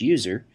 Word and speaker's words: usr: by the system administrator, slash usr, often pronounced slash user, which contains software that